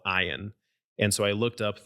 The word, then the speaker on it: ayin: that's a vowel sound, you have a silent letter. So there are two silent letters in Hebrew. And so I was like, well, I'll start with this one, which is called ayin.